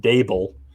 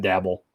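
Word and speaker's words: Daboll: position but I think Brian dabel thank you for all the Giants fans that helped me correct with the pronunciation not dabble table uh we'll have this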